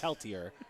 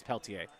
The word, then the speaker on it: Peltier: Now I feel bad that I both didn't know his first name which is Tom and I started the inning by mispronouncing his name. A Peltier when it's Peltier.